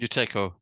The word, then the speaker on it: Buteyko: Have I pronounced that correctly? Buteyko, nearly.